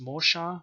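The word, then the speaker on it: Mesha: 480 bce dedicated to king mesher who was probably actually pronounced mosha mosha and it was discovered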